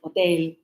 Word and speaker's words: hotel: So H in English is like la jota en español. Mm. So, in Spanish, you don't pronounce the H. You go hotel, hospital, hola. But in English, it's like, so we go hotel, hello, hospital, Helen, hey.